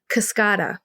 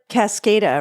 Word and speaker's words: Kascada: influencers in Portland okay kascada it's pronounced kascada but it looks like Cascada right yeah I think everyone thought it was Cascada I thought it was